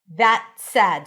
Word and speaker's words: that said: And then the t is a held t that connects to an s. That said, so you don't really hear the t. It's like that said. That said, a as in cat.